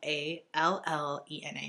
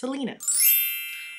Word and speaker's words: Allena: Now you might think, oh, her name's Allen or or Lana. It's not. It's Allena. Okay? And if you think in your mind that, no, this is how it's supposed to be said, don't worry about it. I'm telling you, it's pronounced Allena.